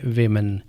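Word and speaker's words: women: जैसे डब्ल्यू ओ एम ई एन। इसमें डब्ल्यू के बाद ओ को आई पढ़ा जाता है। और इसका तलफुज है वुमेन।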